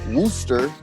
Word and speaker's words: Wooster: even though it's spelled like it will be pronounced rooster wooster but it's worcester and they will correct you